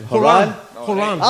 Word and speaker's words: Horan: How are they pronouncing the Bill. name? Horan. Oh, Horan. I like that, eh? Horan.